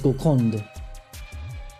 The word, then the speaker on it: Golconde: Okay, so Golconda is kind of spelled that way for English pronunciation. But the French is Golconde.